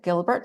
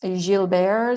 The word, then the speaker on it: Gilbert: this especially for people who have something called Gilbert Syndrome actually pronounced Jil bear syndrome but it's spelled Gilbert and that's not